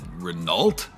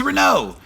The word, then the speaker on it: Renault: Renault? Renault? No, you uncultured fool. It's Renault. You don't pronounce the L or the T.